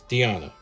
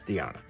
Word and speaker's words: Diana: And which is the way you pronounce that, by the way. It's Diana. I don't care what the other YouTubers say. It's Diana. Anyway, obsessive compulsive owner with 10 of me.